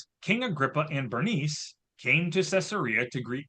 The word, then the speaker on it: Bernice: Just want to mention to you about King Agria and Bernice is how we're going to pronounce her name.